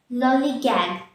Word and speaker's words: lollygag: look at the pronunciation lollygagg lollygage the stress is on the first level lol lollygag lolligan so